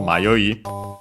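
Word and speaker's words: 迷い: So the verb is accented, so it's the continuative form also used as a noun, accented on the last syllable, mayoi.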